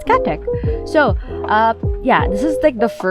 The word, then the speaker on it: KaTeX: guys understand what this is so this is pronounced cat tech or as my that at least that's what my computer science batchmates tell me that's how it's pronounced i always said as ktex but apparently it's catech so uh yeah this is like the first